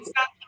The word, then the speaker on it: Constantia: So and did I say basically, Constantia right?